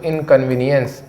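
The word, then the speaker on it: inconvenience: को बोलते हैं दोस्तों इनकन्वीनियंस इसका उच्चारण कैसा आएगा इन कन्वी नी अंस इनकन्वीनियंस यानी होता है असुविधा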